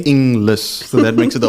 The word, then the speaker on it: Inglis: in and then L A lot of people try to work the G in there like gliss but it's not it's just like inless so that makes it